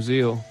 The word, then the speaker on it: Zeal: surname my oh yeah it's my stage name zeal zeal i was i did say it right yeah yeah yeah yeah